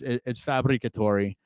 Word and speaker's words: Fabbricatore: So it's Fabbricatore, and you're Fabs, bro.